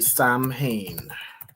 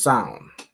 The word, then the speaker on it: Samhain: So, it's not exactly Sam Hayne. How would you pronounce this? Let me look up pronunciation. So, I think it's pronounced. All right. Son or Hold on. It's pronounced as sound.